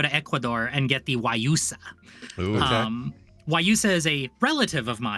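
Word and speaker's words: guayusa: Did you spell it O-R-G-Y or something? Or No, I did WYUSA.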